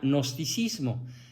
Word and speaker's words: gnosticismo: de nos y si se escribe g gnosticismo o también se le quita la g y se pronuncia gnosticismo es un nombre masculino